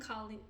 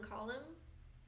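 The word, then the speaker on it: Kalim: It's Jamil and Colleen or J and Colleen. I've been saying their name wrong for years. So, I'm trying to unlearn it because I used to call them Jamil and Colum.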